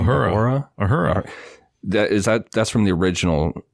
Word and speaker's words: Uhura: Uhura.